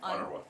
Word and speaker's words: UNRWA: Canada and Sweden have now resumed funding for, what do you pronounce that? UNRWA.